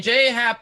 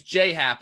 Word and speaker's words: J.A. Happ: Happ, really, I'm glad that you pronounced his name J.A., Eric, because it's the incorrect way, but it's actually the correct way. Because you don't get to say your name's J Happ when it's J.A. Happ.